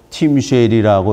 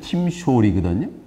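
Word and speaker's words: תמשל: 근데 팀쉘은 존 스타인백이 어디서 팀쉘이라고 읽었는지 모르지만 히브리 원문에는 팀숄이거든요.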